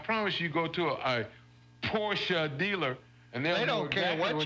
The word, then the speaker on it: Porsche: really just Hyundai day also a lot of people say Porsche but it's really two syllables Porsche Porsche there is no so